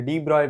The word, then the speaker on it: de Broglie: Coming to our next set of questions, in question 3, which is from 2006, you are asked for the de Broglie wavelength. Yes, I pronounced that right.